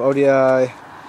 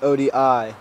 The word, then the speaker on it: ODI: right here teal um ODI grips ODI barends I hear everybody saying oh they're OD you guys are little posers cuz it's ODI you don't say the word you spell it uh a premium stem